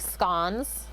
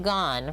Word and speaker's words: scone: like can you make scones i was like yes to rhyme with gone rather than scone and bone i always get it